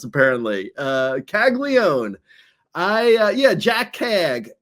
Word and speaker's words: Caglianone: Jac Caglianone, who's just been tearing it up this year across AA and AAA.